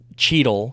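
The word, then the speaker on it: Chytil: good um shidel sheetle it's cheetle c-h-y-t-i-l but I always say shital because I don't know why but it is cheetle it's how you pronounce it um but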